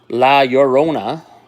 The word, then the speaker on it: La Llorona: And a Mothman and La Llorona. Now I'm saying it right.